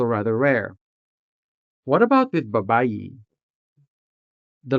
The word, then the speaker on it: babayi: Saying babaye? No. Since babayi is a native word, even though it is spelled with an E sometimes, it is still sounded with the native E sound. Babayi.